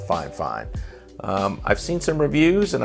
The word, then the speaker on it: FIFINE: company called fine fine it's spelled fi F I and II but I'm pretty sure it's it's called five five I've seen some reviews